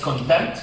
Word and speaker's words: contempt: but this word is content the p is silent do you think this